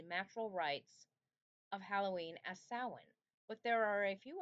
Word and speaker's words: Samhain: Samhain, pronounced Samhain, but spelled Samhain, is the holiday that ancient Celts celebrated on October 31st into November 1st.